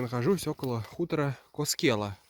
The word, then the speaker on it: Koskela: Сейчас я нахожусь около хутора Коскела. Коскела, если по-фински. Первое ударение, хотя я всегда назвал Каскела.